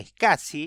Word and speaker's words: SCSI: como la conectividad SCSI, SCSI se escribe y se pronuncia SCSI, o la conectividad SAS, SAS, que era para servidores y de altísima velocidad.